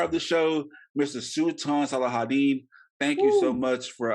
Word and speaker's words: Salahuddin: know the star of the show Mr Su salahadin thank you so much for uh coming on